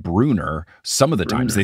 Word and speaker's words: Brunner: with the TV show was Bruner for Bruner because all this time Mr Brunner it's b r u n n r so when I read